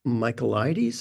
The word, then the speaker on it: Michaelides: The Silent Patient by Alex Michaelides.